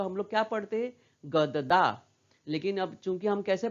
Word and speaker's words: गद्दा: जैसे यहाँ पे मैंने पूरा दा कहा, दा, लेकिन यहाँ पे द आधा हो जाता है, गद्दा। हम लोग गददा नहीं पढ़ते, है ना।